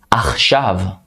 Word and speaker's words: Achshav: Achshav. Achshav. It means now or right now. Achshav. So it's like two syllables.